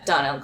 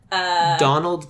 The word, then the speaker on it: Domhnall: yours I totally switch my first thought was Donald Gleeson who is I can't remember names or